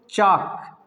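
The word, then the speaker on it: chalk: इसको चाक, है ना, क्या पढ़ेंगे? चॉक, है ना, लेकिन कुछ लोग चालक पढ़ते हैं।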